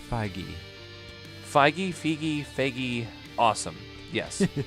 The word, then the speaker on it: Feige: This film I believe released it's pronounced Feige.